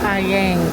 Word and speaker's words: Ayer: Kampong Ayer. Pero pronounced as Ayeng, Kampong Ayeng.